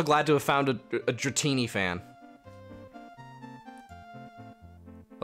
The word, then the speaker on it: Dratini: just repressing it because art school it's pronounced dratini that's always oh you say dratini to to piss people off uh dretini uh oh god he looks like a